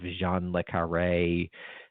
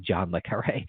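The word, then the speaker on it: John le Carré: has a sort of Jean Le Carré feel to it. I don't know why I pronounce his name like French. It's just Jean Le Carré.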